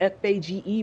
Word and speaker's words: Fage: It's spelled F-A-G-E, but it's pronounced Fage.